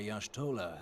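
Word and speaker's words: Y'shtola: manner of Ascension the etheric readings taken by yashtola at the time of this Transfiguration have proven most enlightening wait that's how you pronounce that name what thanks for telling me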